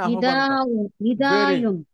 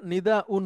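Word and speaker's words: نداء: ইলাজুন ইলাজু আচ্ছা এরপরে ম্যাডাম বলেন না মানে নিদায়ন নিদায়ুন ওইটা নিদাউন হয় ঠিক আছে ম্যাডাম সহজ উচ্চারণ হয় নিদাউন হামজা দিয়ে ইয়া দিয়ে হয়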